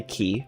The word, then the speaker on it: Qi: Wouldn't make sense to Yeah, that's actually like the way that that the developer pronounces it. I sayqi, which makes sense. People that say keyi, that makes sense. I think that qui without the u in there, that's just silly. cuz it's QI.